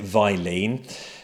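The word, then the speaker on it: Vilene: I would like to quickly touch on how what your experiences with the wonderful Vylene company or it looks like it's written Visilene but I always pronounced it Vylene.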